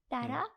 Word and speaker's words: tarot: ये रहता है कि वैसे इसका स्पेल जो है वो टैरोट करके है ना बटी साइलेंट होता है तो इसको इसलिए टैरो बोलते हैं हां इसको बोलते टैरो बोलते हैं टैरो बोलते हैं आता टैरोट है क्योंकि टी ए आर ओ टी होता है इसमें डबल आर भी लग